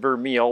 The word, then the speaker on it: vermeil: this is sterling and vermeil and what vermei which is spelled vermeel like dick vermeel the football coach v-e-r-m-e-i-l is a gold